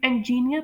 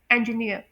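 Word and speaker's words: engineer: आप लोग इसे इंजीनियर प्रोनाउंस करते होंगे। यानी कुछ स्टूडेंट्स बल्कि काफी सारे स्टूडेंट्स हैं जो कि जिनकी नेटिव लैंग्वेज इंग्लिश नहीं है तो वो इसे इंजीनियर पढ़ते हैं। लेकिन इसकी राइट प्रोनंसिएशन है इंजीनियर और इसमें डिस्टंग साउंड आएगी इयर इ अ इयर और ब्रिटिश में ये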